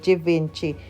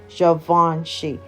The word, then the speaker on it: Givenchy: enough people they said Givenchy it's pronounced Givenchy because it is French all right so let